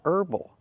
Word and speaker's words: herbal: There's no H in herb, or herby, or herbal.